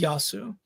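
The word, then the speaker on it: يسوع: the Quran that says his name is Yasu. Yeah. Which is how you say in Arabic. Yeah. It's either Yasu or Yeshua.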